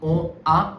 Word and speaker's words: on a: So when you combine with on, this will not be on A, this will be ona.